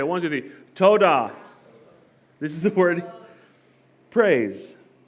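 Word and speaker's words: תּוֹדָה: is pronounced let's do the next one let's pronounced toada everybody say one two three toada this is the word praise and it is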